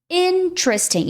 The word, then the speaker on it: interesting: Interesting. Então, você tem o in. Esse E aqui some, ele desaparece, ele cai na fala, tá? Então, do T você já vai puxar direto pro R.